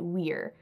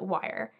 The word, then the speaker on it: Wyer: that he pronounced it we're so we all pronounce it Historical Association we pronounce it wire and most of the people who knew him say it was wire so that's the term